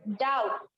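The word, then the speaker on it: doubt: फिर डाउट, डाउट, तो डाउट में भी टी जो है वो खुल के सुनाई नहीं दे रहा है, छुपा हुआ है, ठीक है।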